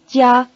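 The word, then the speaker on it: 家: how new pal new the word for house yeah has the high tone repeat house yeah yeah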